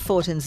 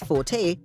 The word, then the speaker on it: Fortin: Punta became Point, at one time spelt ending with an E, and Fortin's name remained, pronounced by the locals as Forte, until the British came, changing that to Fortin.